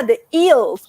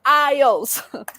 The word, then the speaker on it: IELTS: again because believe me there are many people who still do not know how to pronounce ielts i get people saying oh yeah the eels or the ilts so let's let's all say together ios okay so what is